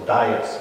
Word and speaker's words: Dias: So our first recorded interaction between local South African people and visiting Europeans, explorers, the Portuguese explorers, was Bartholomew Dias, or Dias, is how you pronounce the name.